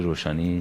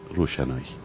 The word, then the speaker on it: روشنایی: و گزارشم توسط آقای روشنی تایید میشه روشنایی خب بله آقا مهدی روشنایی روشنایی روشنایی بله میبخشید من درست تلفظ نکردم منتها ایشون داره کمک